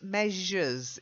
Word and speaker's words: measure: Then the next one, it's measures. It's that j sound in the middle.